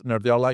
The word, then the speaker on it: Nerdearla: Okay, so this is how we pronounce Nerdla in English.